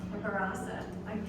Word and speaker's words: Barasa: Barasa. You know, it sounds a lot like burrata, which is a really good cheese.